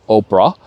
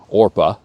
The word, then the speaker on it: Orpah: trouble and her daughter's-in-law our name oprah or oprah orpah is how it's pronounced and spelled in the bible orpah and then ruth